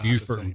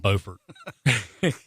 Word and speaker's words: Beaufort: same but they're not they're spelled the same like Beaufort Beaufort so our listeners brought